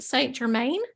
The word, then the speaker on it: Saint Germain: Michael you go and then say am I pronouncing this right Saint Germain yes is he like one that really resonates